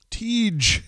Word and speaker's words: Tej: Tej. Thank you, Chris M. Appreciate you, bro. That's how we say it. That's the right way to say it.